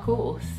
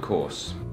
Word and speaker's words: course: Americans pronounce the R very clearly, and we use the back of our tongue to make that sound. But the British people basically just make the vowel sound longer, and they don't really pronounce the R at all.